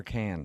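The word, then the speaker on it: Cannes: But the pronunciation is it con or can? It's been driving me nuts my whole life and I've never been there. Yeah, it's can.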